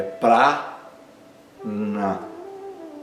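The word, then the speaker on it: प्राण: O primeiro a é aberto e longo para e não é pr, é pra na segundo a é curto.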